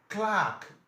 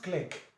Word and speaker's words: clerk: Clark, not clerk. It's Clark. Take notes. You see this one in your exams. It's common. Examiner knows that you pronounce it wrongly. That's why you'll be given most time. It's Clark. It's not clerk. Clark, and it's a long ha.